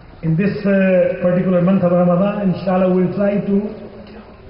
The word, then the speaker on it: Ramadan: In this particular month of Ramadan, inshallah, we will try to correct the pronunciation of our daily usage of Arabic. It is Ramadan, it is not Ramzan, Ramadan.